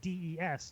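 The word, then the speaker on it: です: The standard verb for to be is death, which is always spelled the spelled du, but it it's kind of the same thing where it's kind of pronounced where it just sounds like dees to English speakers.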